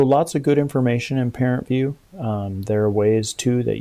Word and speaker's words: ParentVUE: be sent so that's parent view this is also called the parent portal there is an app called parent view it's spelled uh parent and then it's v u e that's available in both